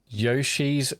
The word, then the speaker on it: Yoshi: to David uh pronouncing Yoshi's name correctly with are you American. It's always been pronounced Yoshi in the way you pronounce the yo parts in Yo-Yo, including by the Smash Brothers announcer and the character himself.